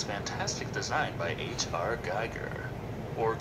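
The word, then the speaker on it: Giger: this xenomorph and it's fantastic design by h.r geiger or geeker well point is the alien girl you can pronounce his name right he's a very good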